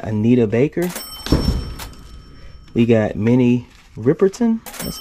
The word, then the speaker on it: Riperton: We got Minnie Riperton.